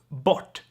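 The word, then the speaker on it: bort: or here no you you can't hear an extra r sound there so bot which means away gone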